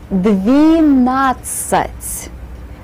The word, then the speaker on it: двенадцать: Двенадцать. Notice that I put the E sound in the first syllable.